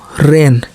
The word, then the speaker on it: reign: जैसे REIGN तो रेन, जी के तुरंत बाद यन आया तो जी को हम लोग नहीं पढ़े।